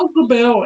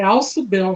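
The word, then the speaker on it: Ausubel: Alzubel, é como se escreve, Alzubel. Aliás, não é nem Alzubel. Alzubel, é Alçubel, né?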